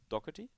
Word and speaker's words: Doherty: How's the last name pronounced? Doherty?